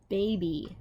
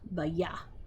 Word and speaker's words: baby: So baby is spelled B-A-B-Y. Baby. Now we don't say ba-ya. Like with the Y, we don't say the ya sound. We say baby.